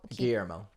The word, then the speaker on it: Guillermo: So, Guillermo, my God, I cannot say his name. We'll just call him Del Toro, so I don't. Guillermo.